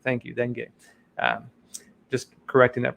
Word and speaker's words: dengue: that can help combat tropical diseases such as dengue, bilharzia, and river blindness, as well as for COVID-19, is according to the statement.